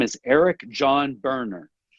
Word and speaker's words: Boerner: he's well qualified his name is Eric John burner it's spelled b-o-e-r-n-e-r so if you're going to search